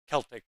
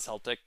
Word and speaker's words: Celtic: Yep, hard C. Not a Celtic fan. Celtic, not Celtic.